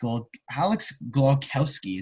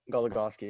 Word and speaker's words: Goligoski: So Alex Glogowski, is that how you say it? Goligoski, yeah.